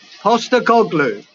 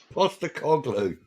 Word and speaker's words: Postecoglou: Postecoglou. Postecoglou.